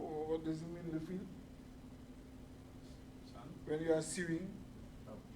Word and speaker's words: fils: Le fils, the S is pronounced when you are talking about child.